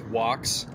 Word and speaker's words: vox: It's pronounced Vox.